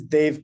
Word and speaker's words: Dave: got outed so so my name is Dave it's deev it's pronounced Dave I was not around when